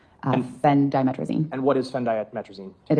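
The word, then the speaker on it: phendimetrazine: Fen Dtrizine.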